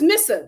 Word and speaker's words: Misa: at the cdfa so Misa I think that's her name how you pronounce it or missa oh no it's missa missa that's puppy's uh